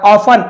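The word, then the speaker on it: often: his parents, उनके पालक, पालक यानी माता पिता, ऑफन, अक्सर, टी साइलेंट है, टॉन्टेड हिम, टॉन्ट यानी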